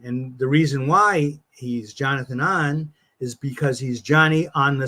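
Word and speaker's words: Jonathan Ohnn: but you know the characters secret identity is Jonathan an right and I've heard that I've heard that mispronounced on the Marvel uh cartoon shows and stuff where they they call him Jonathan own because it's spelled o hn but it's I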